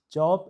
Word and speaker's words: Job: Today's scripture is job 14 you know job and regular job is different pronunciation and different meaning. So this is the name of the name in the Bible job. Usually we would say Job. Job is actually correct pronounciation in Hebrew text.